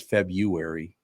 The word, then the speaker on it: February: Oh, yeah, here's February because everybody says February. They leave the R out.